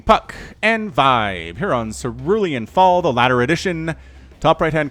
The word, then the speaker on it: Cerulean Fall: But it's Cerulean Fall, not Cerulean Falls, not Cerulean, Cerulean.